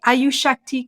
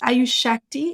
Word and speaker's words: Ayushakti: based in India in Mumbai it's called the ayushakti clinic so it's spelled a-y-u-s-a s-h-a-k-t-i and it's ayushakti in Mumbai and and if you want I